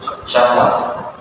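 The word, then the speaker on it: شهوة: Ha wau ta marbut itu tulisannya syin Ha wau tak marbutah bacanya syahwat syahwat ya dan ada satu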